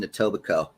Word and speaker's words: Etobicoke: He lives in Etobicoke.